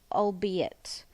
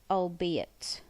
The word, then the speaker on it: albeit: you're writing and last one is here it's pronounced albeit albeit and it usually goes in the middle of